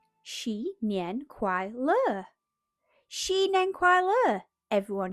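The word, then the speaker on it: 新年快乐: "You say it like this. Xi Nian Kuai Le."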